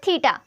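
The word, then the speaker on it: theta: इसको हम θ बोलते हैं क्या बोलते हैं तीता ठीक फिर इसके बाद एक ही तरह जो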